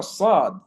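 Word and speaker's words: ص: However, the letter sad, as-sad, as, us, is, the tongue rises.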